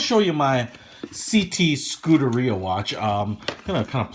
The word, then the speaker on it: Scuderia: And I may say Scuderia because that's how I kind of want to pronounce it based on my reading of it, but as I believe if you're Italian you would say Scuderia.